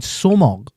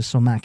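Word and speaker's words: sumac: International, yeah, because I can find somog in my Asda now.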